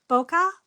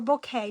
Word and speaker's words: bokeh: And it's called bokeh or bouquet depending on who how you say it or who teaches you.